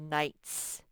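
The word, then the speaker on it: knight: the m sound and you'll learn later later that igh you just ignore the gh and it just makes the eye say its name night this kind of night is not like night time it's like a long time ago men used to dress in armor like this and do good deeds and they were called nights okay wr remember what sound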